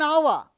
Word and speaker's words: hour: the following five words remember the following five words with silent h take an an hour an honor an honest man an air an heirloom in all these five words the beginning letter is H but it is not pronounced so we have used